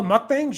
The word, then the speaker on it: mukbang: just eating meals oh mukbangs yeah those have been around for a long time yeah milk banks yeah they're uh it's it's uh mukbang i think is actually the pronunciation of it but yeah it's like